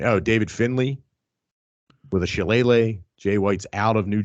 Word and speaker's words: shillelagh: Oh, David Finlay with a shillelagh.